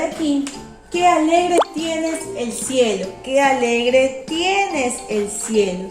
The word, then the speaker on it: cielo: Cielo es una palabra que cae, que sobrecae la mayor fuerza de voz en la penúltima sílaba.